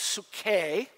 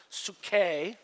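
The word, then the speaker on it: ψυχή: The word soul is the Greek word 5590, which is called Say it like this, suke. Try it with me, suke. Or where we get the word psyche or psychology.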